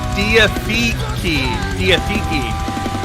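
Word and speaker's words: Diatheke: Oh, that is Diatheeki. It's the correct way. Okay. I remember when I listened to Magnify for the first time over on Christian Metal Source. And I was like, Diatheek? I couldn't get it.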